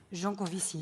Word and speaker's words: Jancovici: All right, and then your inspiration, you got it from Jean-Marc Jancovici, if I pronounce it correctly. Jancovici.